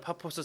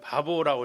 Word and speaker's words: 파포스: 우리 어르신들이 번역을 하면서 그냥 파포스 쓰시면 되는데 이게 좀 발음이 좀 안 좋으신가? 바보라고 이렇게 해서 지금도 바보 섬입니다. 바보라는 도시예요. 그냥 파포스입니다.